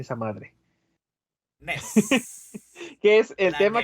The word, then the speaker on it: NES: llamó Nintendo Entertainment System, o como se pronuncia esa madre, NES.